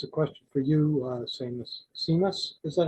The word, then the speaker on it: Seamus: And I wonder, I guess it's a question for you, Seamus, is that how you pronounce it? Just like shameless, but without the L is the best way to.